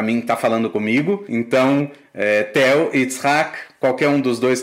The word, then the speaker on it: Tel: Primeiro porque muitos israelenses não sabem como pronunciar Tel. Se é Tel ou se é. Porque pode ser a pronúncia mais americanizada, né? Mais anglicizada do nome.